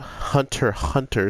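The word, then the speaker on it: Hunter × Hunter: with that everybody please check out Hunter hunter since the X is silent I don't want to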